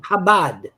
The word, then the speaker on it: Chabad: Chabad. Okay, Chabad. I don't. It's spelled CHA, but it doesn't sound like CHABAD. It's an acronym for Chochma Bina Dat, which means wisdom, understanding, and knowledge.